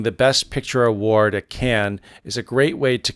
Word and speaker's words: Cannes: back some years it's con some years it's can but the correct pronunciation is can-can is the correct way not con so I just want to clear that up